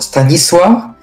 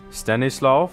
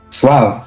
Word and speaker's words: Stanisław: Stanisław? Stanisław Wojciechowski. Stanisław. Suav. Suav. Stanisław. Like what? Like what? But with S. Swa. Stanisław. Stanisław. And then the V.